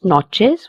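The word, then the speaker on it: noches: This word has a ch in it. It will be pronounced as chill. Buenas notches which means good night.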